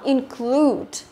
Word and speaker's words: include: Và chúng ta có include cũng là âm thứ hai đó, include. Như vậy câu này đáp án A là đúng rồi.